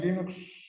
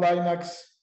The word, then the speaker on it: Linux: Bu arada parantez açayım ısrarla Linux istiyorum arada lineax Linux vs gibi telaffuzlarda duyuyorsunuzdur biraz araştırırsanız Google'da bakarsanız linustorealinde okunacağı ile ilgili Kendi sesiyle çekip koydu bir video var bu testi de burada